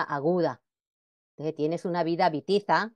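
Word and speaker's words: Witiza: Ejemplo, Bamba, se escribe allí con la W, pero se pronuncia Bamba. un rey fundador de reinos en España e Italia. También el nombre de Bitiza o Bitiza, nombre de un rey que gobernó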